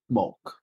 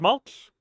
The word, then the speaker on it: Mulk: You actually been saying it wrong the whole time. I never knew. He told me it was Mulch.